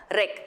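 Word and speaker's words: wreck: You pronounce W-R-E-A-K as reek, like R-E-E-K, reek, and this you pronounce it as rec, like deck.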